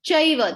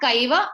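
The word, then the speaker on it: चैव: No, Chaiva. That C means cha. Okay, that C is Chaiva. Chaiva. Okay, whenever there is a C, you will pronounce it as cha. Chaiva. It's not Kaiva, it's Chaiva.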